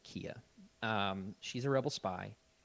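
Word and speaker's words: Kea: find that out and her name is spelled k-e-a but she pronounces it kia um she's a rebel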